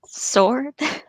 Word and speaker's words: sward: it lay a smooth sward shelving down on all sides to its bare unbroken rim it's pronounced sword worid i know i